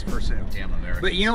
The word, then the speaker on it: Versailles: Yeah, it's Versailles because we pronounce it correct. It's Versailles it's a French word. Bro. That's correct. But it's still French. We don't pronounce it that way here, though. It's Versailles.